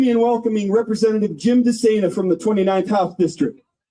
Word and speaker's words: DeSena: Moving things along here, I asked Representative Jim DeSena how to pronounce his name. He said, just think insane for running for public office. That's how you remember it.